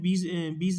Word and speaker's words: ब्यास: इसे इंग्लिश में बीज नदी बोलते हैं, कुछ बीज रिवर बोलते हैं, हिंदी में इसे ब्यास नदी बोलते हैं, जो कि एकदम करेक्ट प्रोनाउंसिएशन है। ठीक है, तो इसे बेसिकली ब्यास नदी ही हम बोलेंगे, क्योंकि वो इसका करंट जो करेक्ट प्रोनाउंसिएशन है वो माना जाता है।